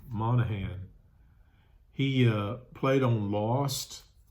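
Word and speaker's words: Monaghan: And I don't know if you can see the actor, but his name is u Dominic Monahan, I guess is how you say it. Monahan.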